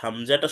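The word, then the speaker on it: همزة: এরপরে হচ্ছে হামজা, হামজা হচ্ছে শক্ত ও পাতলা আওয়াজে, অর্থাৎ হামজাটা শক্তভাবে উচ্চারণ করতে হবে, হামজা, হামজা।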